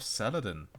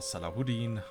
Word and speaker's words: Saladin: are fighting against video drivers optimized version of Saladin or Saladin or Salahuddin I have heard so many ways to pronounce his name I personally prefer Saladin and